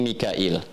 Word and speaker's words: Mikail: dari asim diiwayat qun kemudian waras dari Nafi dibacanya Mikail ya makanya kita bisa baca dengan Mikal ya